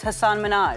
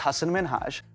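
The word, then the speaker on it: Hasan Minhaj: Television good please because everyone that says your name says Hassan Minaj yeah but the real way you pronounce it and this is a big deal cuz my parents are here it's Hass minhaj well this one would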